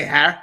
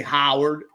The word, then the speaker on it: Harold: Or they say Howard, like somebody I know.